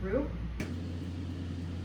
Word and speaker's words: roux: my luck oh now it's thickening that's fine roux the French aren't rude they're just rude the thing is silent okay I had these big thoughts for